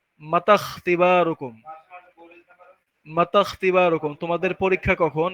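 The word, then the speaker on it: متى اختباركم: তো এরকম চিহ্ন থাকলে সামনের হরফের সাথে ওই হামজার পর হরফটাকে মিলায়া পড়তে হয়, আর হামজার উচ্চারণটা বাদ যায়। তাহলে এখানে কি হয় মাতা, এখানে মাতা, তাহলে তা গিয়ে সরাসরি খ সাকিন, এটাকে ধরবে। মাতাখ, মাতাখ তিবারুকুম, মাতাখ তিবারুকুম, তোমাদের পরীক্ষা কখন।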